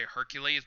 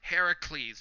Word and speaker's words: Hercules: it's more of my I like to say Hercules, but it's like the tomato and tomato thing, so I don't want to like any comments saying that oh it's pronounced Heracles, not Hercules.